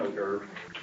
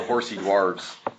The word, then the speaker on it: hors d'oeuvre: What is an hors d'oeuvre? It'd be funny if it's beef jerky. Actually, it's an hors d'oeuvre. But it I looks know like it's spelled weird. it's spelled horsey dwarves.